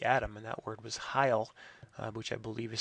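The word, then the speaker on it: hyle: counter to the atom and that word was Heil which I believe is spelled H y le and that word sort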